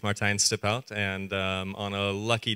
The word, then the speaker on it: Martijn Stiphout: that's my biggest Arts teaching people to say my name so very correctly said my name is Martin stipout and um on a